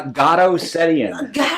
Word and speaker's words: Garo: wars so let's welcome him get how you pronounce your first name uh God that's what I was like I was gonna